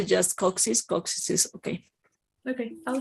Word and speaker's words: coccyx: And then in coccyx, how do you say coccyx in English? The same you're telling coccyx.